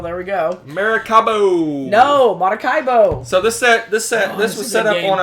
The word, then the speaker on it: Maracaibo: I actually pronounced it Maracaibo? Yeah, you did. What's wrong with you? You sick? Maracaibo. Oh, well, there we go. Maracaibo. No, Maracaibo.